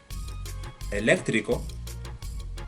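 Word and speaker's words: eléctrico: you pronounce this one if you said a left Rico then you're correct this one does have an accent mark I have already taught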